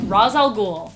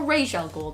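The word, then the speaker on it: Ra's al Ghul: he definitely paid for that one number five razal ghoul or Rael ghoul depending on how you want to say it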